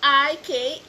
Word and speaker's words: Ikigai: So, Ikigai, capital I-K-I-G-A-I. Capital I-G. Okay, yun ang spelling at ang pag-pronounce ay Ikigai.